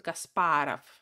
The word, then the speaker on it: Kasparov: La diferencia es que la O no acentuada se pronuncia como A, por eso Kasparov, A, ¿no?